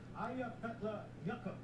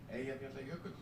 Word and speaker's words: Eyjafjallajökull: It's pronounced similar to, yo, I forgot the La Yogurt. Like the La Yogurt part. The La Yogurt's kind of close.